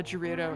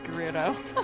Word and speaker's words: Gerudo: feel like an idiot for saying G uh Gerudo instead of Gerudo. See, I also always pronounce it with the soft G. Yeah, I said Dorito as a kid all the time and then I started listening to Hyrule Academy and everyone said Gerudo.